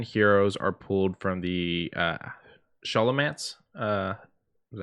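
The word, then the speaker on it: Scholomance: The debut season theme is Wizard Duels, and the 10 heroes are pulled from the Sholomance. Is that how you say it? Sholomance? Sholomance.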